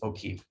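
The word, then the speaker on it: Oki: quick language lesson is how do you say hello in Blackfoot? It's O'Keefe.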